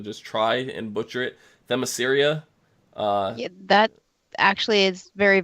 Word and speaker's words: Themyscira: I cannot pronounce this for my life, so I'm going to just try and butcher it. Themyscira.